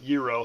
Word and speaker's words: gyro: cooked Greektown gyro haha Euro however you want to say it I should spell it why iro if they want to be so cooking that way uh we have wavy